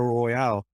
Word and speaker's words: Royale: which one is it is it royal or royale it's it's royal and for years i i kept on calling it royale and then yeah going up there i'm like oh i've been saying it wrong for 10 plus years oh my is this